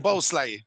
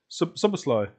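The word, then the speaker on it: Szoboszlai: Can you pronounce his name? Who is their number 8? Zoboslai. Soboslai.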